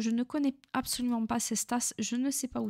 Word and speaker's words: Cestas: Cestas, prononcé Cestas, dans le sud-ouest de la France, situé en banlieue sud-ouest de Bordeaux, dans le département de la Gironde, en région de Nouvelle-Aquitaine.